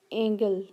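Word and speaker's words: Angles: सो the word is drive from the name of द एंगल्स, ठीक है, एंगल यानी कि स्पेलिंग तो ये एंजल्स के हैं लेकिन ये इसको पढ़ा जाता था एंगल, बट is used without distinction for the language of ऑल the invading tribes.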